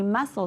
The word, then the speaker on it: muscle: And muscle, we don't say muscle, we say muscle, so that C is our little ghost letter.